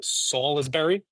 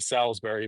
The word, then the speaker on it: Salisbury: I say that correctly is it salisbery it's not salisbery but in conversation I'm probably going to keep saying Salisbury but uh to you all I will put the effort in and pronounce it the right way fall is bury but